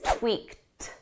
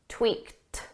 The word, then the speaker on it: tweaked: We need a soft T so it's not tweaked. That's incorrect. Is tweaked, tweaked. But when you use this in a sentence and there are words after, you're going to drop that T sound entirely. So notice how tweaked the sounds in this sentence. We tweak the plan. It just sounds like the present simple tweak.